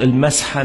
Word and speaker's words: المسحة: هي النطق المسحة مش المسحة، نطق الصح حسب التشكيل اللغة العربية المسحة مش المسحة.